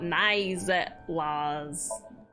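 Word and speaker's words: Naixatloz: About Nizet Laws. It's spelled N-A-I-X-A-T-L-O-Z.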